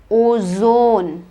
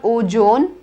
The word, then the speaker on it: ozone: z zebra zimbabwe zimbabwe ozone it is not ojon but o zone say it with me